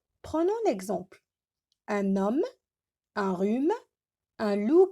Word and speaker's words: rhume: Un rhume, j'ai pas prononcé le H.